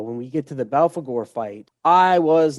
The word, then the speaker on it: Belphegor: Belphegor, yeah.